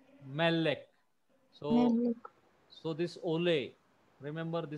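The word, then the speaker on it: מֶלֶךְ: Melek. Melek. So this ole, remember the sign is called ole in Hebrew. Ole. So this ole falls on the next to the last syllable.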